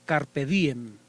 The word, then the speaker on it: carpe diem: y él me dice es carpe diem con acento en la sílaba di pero si carpe diem